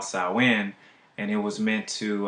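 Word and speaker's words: Samhain: it's you know it's it looks like Sam Hayne but it's pronounced sauwin so this holiday that was practiced by the cells was called Sawan and it was meant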